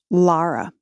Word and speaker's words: Lara: first thought is that my name is pronounced Lara it's a good one